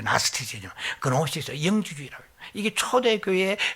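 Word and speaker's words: Gnosticism: 그런데 영어 발음하면 나스티시즘이죠. 나스티시즘 발음이 좀 고약한데 나스티시즘, 그노시스, 영지주의라고 해요.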